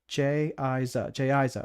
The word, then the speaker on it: Jaza: My name is Jaza, pronounced Jayiza.